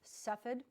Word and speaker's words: Cepheid: bear with me have fun with me but Cepheid is how it's pronounced and it's suffered expertise expressed Kovac 19